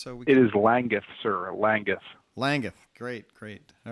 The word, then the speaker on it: Langguth: It is Langguth, sir.